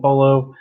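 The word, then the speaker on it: pollo: emma said we're having polo see there he goes enchiladas d pull up see she said right before there after that she says yes double l is pronounced like a y there we go my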